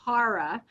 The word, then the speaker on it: Kara: very prescient and they named me cara like a vehicle so yeah yeah we'll